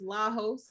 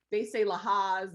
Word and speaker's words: Lajos: It flips, or they say Lahaz, or it's hard for people to.